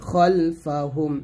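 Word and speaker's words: خلفهم: খালফা আছে যদিও তবে খাল না বলে খল বলতে হবে খলফাহুম এটাই আরবি ইয়া জবর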